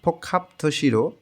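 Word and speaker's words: 복합: তৈরি হয় হ্যাংজং ঝুংসিম ফোখাপথির আমি একটু এখানে বুঝায় দেই কিভাবে হয়েছে গিয়ক বাচ্চসিমের পরে যখন হিউত আসে তখন গিয়কটা হিউয়ুতের স্থানে গিয়ে খ এর মতন উচ্চারণ হয় এইখানে উচ্চারণ হবে ফোখাপ এর টোটাল অর্থটা হচ্ছে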